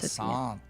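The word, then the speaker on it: Jacinthe: It is a soft J, but it's an aunt. Jacint.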